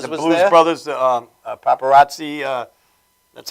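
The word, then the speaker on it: Papparozzi: Brothers, Paparazzi, that's how you pronounce it.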